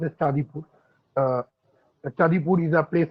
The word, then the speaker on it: Chandipur: This Red Crabs of Chandipur is a story where a particular Chandipur, actually, it is pronounced as Chandipur.